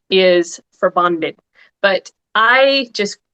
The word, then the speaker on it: Forbandet: The name uh for bandit, it is actually a Danish and Norwegian word and it's if we're going to get technical about the pronunciation, it the the proper technical pronunciation is for bonded, but I just say